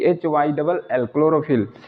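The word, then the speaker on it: chlorophyll: और यहाँ चौथा वर्ड लेते हैं क्लोरोफिल, सी एच एल ओ आर ओ पी एच Y double L, क्लोरोफिल। इन सब में क्या हो रहा है कि सी एच के बाद एल आ रहा है, यहाँ भी आया है,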